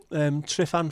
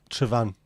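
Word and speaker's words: Tryfan: Unfortunately, single F is a V. Trifan, is that right? Am I saying it right? I have to remember this. F is a V. As opposed from Dutch where a V is an F.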